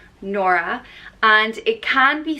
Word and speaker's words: Nora: boys as well Carrie the next name is nora and it's pronounced noir ah nora and it can be spelt with a photo